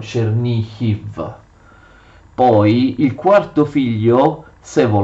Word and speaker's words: Chernihiv: svetoslav riceve cerny gol che gli ucraini scrivono e pronunciano cernicchi poi il quarto figlio